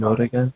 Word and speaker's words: Morrigan: Morrigan. Yeah, so it's spelled M as a mother, Orrigan.